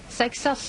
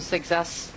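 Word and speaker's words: Seixas: Sexas is what the French colleagues say, so I'm just going with that.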